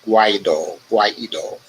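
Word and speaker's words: Guaidó: divisions within the international coalition that once backed Guaido. I pronounced that right? Guaido.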